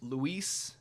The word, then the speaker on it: Luis: For those of y'all who don't know, my name is Luis, Luis, and I get called Lewis all the time.